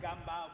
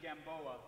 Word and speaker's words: Gamboa: I'm Portuguese in this version. Oh. It's Gamboa, but it's really Gamboa. Gamboa. Hey, what's up? I'm Gamboa, or Gamboa.